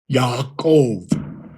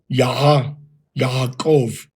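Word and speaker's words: יעקב: Now, for Jacob, it would be Yaakov. Now, the biblical pronunciation of Hebrew, what that was spoken in biblical times, all right, did not have the distinction between the ba and va. So in the Tiberian system now, we would say Yaakov. But if it's a biblical pronunciation, it will be Yaakov. Yaakov.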